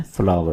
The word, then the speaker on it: flour: आटा, पौधे के फूल की तरह। इसका उच्चारण बिल्कुल वैसा ही है। आटा का मतलब है मैदा। ठीक है? इसे फ्लोर की तरह उच्चारित न करें। आमतौर पर इसे फर्श कहा जाता है। जैसे फर्श पर चलने वाली चक्की, आटा पीसने वाली चक्की। तो यह आटा है। इसका सही उच्चारण flour है।